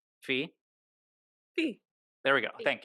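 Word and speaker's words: Phee: because wait did I say her name right Fe Fe there we go thank you yeah yeah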